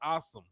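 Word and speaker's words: Asim: they like they like awesome Richards I think I figured out I've been butchering this name it's ah it's pronounced like a h and then some so it's like awesome so I like damn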